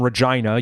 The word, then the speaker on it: Regina: Sort of another country song, not explicitly about Canada, but they do name Regina, yes, it's pronounced Regina, not Regina, several times in the chorus even.